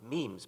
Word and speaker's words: meme: the French word me it should be pronounced to rhyme with cream just as genes are selected for their Mutual compatibility so in principle might memes be the large literature